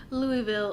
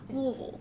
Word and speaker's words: Louisville: It's Louisville. Louisville. Louisville. I've heard it explained. You have to say it like you're drunk on bourbon.